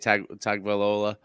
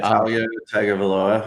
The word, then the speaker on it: Tagovailoa: Tagovailoa. Yeah, Tagovailoa, and you're right.